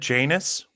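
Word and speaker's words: Janus: always I've always said Janice um but I think I think it's named after the Greek god uh yanu um the two the two-faced god um but you know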